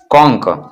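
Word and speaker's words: conch: कॉन्क, कॉन्क means होता है शंख। तो यहाँ पर CH का प्रोनाउंसिएशन क्या है, क है, क।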